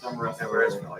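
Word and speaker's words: Demorestville: Demarest-ville, yeah. Always got to pronounce it right. Yeah. Demarest-ville.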